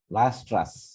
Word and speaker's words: Weierstrass: দেখো WEI, আবার ERS, TRASS, ঠিক আছে, ভায়াস্ট্রাস। স্বাভাবিক জার্মান ভাষায় ডাব্লিউ কে ভর মতো দিয়ে উচ্চারণ করে।